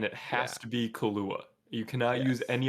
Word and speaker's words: Kahlua: Kahlua.